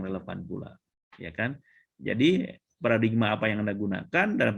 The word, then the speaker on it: paradigm: Nah, paradigma itu adalah pengucapan orang Indonesia. Nah, dari bahasa Inggris tulisannya begini. Nah, begini. Dibacanya paradigm. Paradigm ya.